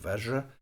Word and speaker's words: Vajra: This mantra goes Om Ahung Benza Guru Pema Siddhi Hung. The Benza is a Tibetan mispronunciation of Vajra and is sometimes pronounced more like that.